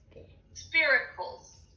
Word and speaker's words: spiracles: spiracles. Spiracles. Spiracles. It rhymes with miracles.